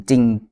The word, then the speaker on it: จริง: แล้ว นะ แต่ ว่า คำ ว่า จริง ที่ หมาย ถึง จริง เนี่ย มัน ต้อง มี ตัว ร เรือ ประกอบ ด้วย ซึ่ง ร เรือ ตัว เนี้ย ไม่ ออก เสียง เห็น มั้ย ครับ เพราะ